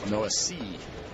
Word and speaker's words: Noesi: Noesi gets ahead, no balls and one strike. Trying to train myself, but no Essie. There's no S. And then there's an E at the very end. Noesi.